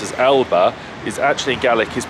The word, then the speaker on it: Alba: And also, interesting the word that actually I pronounce as Alba, is actually Gaelic is pronounced Alepa. With a pa, Alepa, which I didn't know.